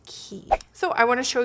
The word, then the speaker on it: Quay: I always called them QUAY Australia. It's actually pronounced Key.